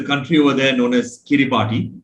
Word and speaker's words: Kiribati: over there known as kiribati k-i-r-i-b-a-t-i pronounced as kiribati because ti over there is pronounced as an s so i visited the